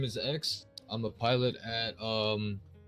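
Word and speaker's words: Xue: you say your name again sir sorry uh x but it's uh i spelled like x u e so it's kind of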